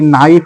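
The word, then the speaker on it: knife: পারি এরকম যে ওয়ার্ডগুলোতে দেখবো সেগুলো আমরা এর উচ্চারণ করবো না তারপরে আমরা লিখতে পারি নাইফ লিখতে পারি কে এন আই এফ এ নাইফ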